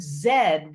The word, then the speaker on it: zed: actually be the word zed which is how people in britain pronounce the letter z the english letter zed